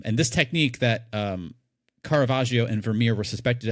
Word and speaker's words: Caravaggio: This is a technique which a famous artist Carvajio, if I'm pronouncing that correct, Michelangelo Carvajio as well as